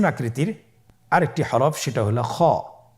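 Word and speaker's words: خ: কিভাবে উচ্চারণ করতে হবে খ হরফটির মাখরাজ হল কন্ঠনালীর শেষ ভাগ হতে উচ্চারণ করতে হয়। কন্ঠনালীর শেষ ভাগ আপনারা আমার সাথে বলুন খ আবার বলুন খ মাশাল্লাহ আমরা তিনটি একই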